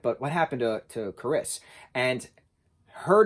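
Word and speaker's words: Carys: basically he said to pronounce it as caris um how we would say like the name carissa um but without the uh so caris but in the book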